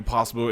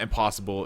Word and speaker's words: Impossibru: And for those of you who think that we're just pronouncing Impossibru in a very, or slightly racist, pronunciation, it's actually their name. There's an R. It's not impossible. It's literally Impossibru.